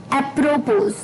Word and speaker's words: apropos: तो जो 13वां वर्ड है शाम का, वो है दोस्तों एक अटपटा सा वर्ड है, थोड़ी सी प्रोनाउंसिएशन मुश्किल रख सकती है आपको इसकी। एप्रोपोज, एप्रोपोज, जी हाँ दोस्तों, एप्रोपोज, APROPOS, एप्रोपोज।